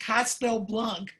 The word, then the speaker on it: Castellblanch: I seem to remember your last name is pronounced Castelblanc. Is that right?